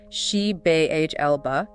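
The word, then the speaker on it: Xibalba: already in the Underworld zabba pronounced she B Elba which is a very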